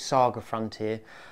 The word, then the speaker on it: SaGa Frontier: And I realised watching this back that I pronounced it wrong. I believe it's Saga Frontier.